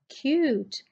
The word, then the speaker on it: cute: And when we add a silent E at the end of this cut, it becomes cute and U starts giving its own sound.